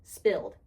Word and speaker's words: SPLD: Tukey pronounced it spilled.